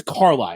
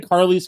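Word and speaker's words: Carlies: line is Jaylen Carli I think it's Carli I think that's how you pronounce it we were saying Carly's it looks like how you would spell carli's but it's Carly from what I've heard so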